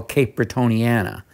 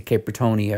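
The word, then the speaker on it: Cape Bretoniana: starting what they call Cape brittoniana and that no one could pronounce they always wanted to say cap pronia or they don't know what that was but uh I did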